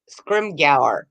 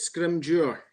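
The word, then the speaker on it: Scrimgeour: originally pronounced it um scrimger but you said it's yeah oh you're close yeah but the G is actually a j sound right it's a d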